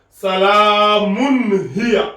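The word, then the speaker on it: سَلَامٌ هِيَ: On prononce clairement, ça donne salamun hiya.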